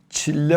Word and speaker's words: çile: Ve bu Farsça'ya, Kürtçe'ye çille olarak geçmiştir. Çille 40. Türkçe'de çile olarak telaffuz ediliyor.